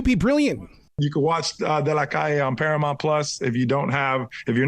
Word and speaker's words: De La Calle: I'm glad you pronounced it the correct way, because so many people are going to say, yeah, man, you've been watching that show De La Calle, because we're so used to Cali through Pitbull.